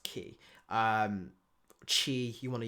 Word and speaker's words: ki: we call it but as people have rightly said it's just pronounced key um Chi you want